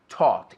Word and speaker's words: taught: I taught. Igual, T-O-T se pronuncia.